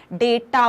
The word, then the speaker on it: data: डेटा word समझ में आया, जिससे कुछ लोग डाटा प्रोनाउंस करते हैं, कुछ डेटा प्रोनाउंस करते हैं, इट डजंट मैटर।